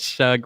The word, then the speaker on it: Shug: Tommy says Shug rhymes with chug.